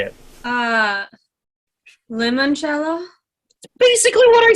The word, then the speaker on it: limoncello: basically what I said it's lemon first you not Limon it's pretty I thought it's spelled limo like l i n spelled Elvis how lemon is spelled yeah the I sound in Italian makes an e sound lemon jello or if